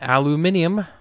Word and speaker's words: aluminium: And then aluminium. If you're across the pond, that's how you say it.